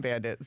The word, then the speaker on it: Bandit: There's a D in Bandit. So yeah, Bandit on all socials.